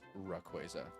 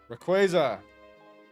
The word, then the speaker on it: Rayquaza: I am pronouncing it correctly. It's Rayquaza. Rayquaza.